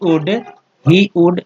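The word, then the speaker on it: would: Another another another he वुड, इसमें एल जो है साइलेंट है हमारा, ठीक है, वुड में एल साइलेंट होता है।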